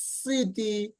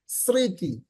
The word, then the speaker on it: স্মৃতি: ম ফালার মতু যেমন স্মৃতি দেখো ম এর সাথে যদি প্রথম অক্ষরে যদি কি হয় এই দেখো এখানে ম ফালা প্রথমে আসছে এজন্য ম ফালার কোন উচ্চারণ নেই স্মৃতি স্মৃতি এখানে দেখো দন্ত